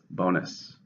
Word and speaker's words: bonus: it's a countable noun how many syllables bonus to stress in the first bonus you received a large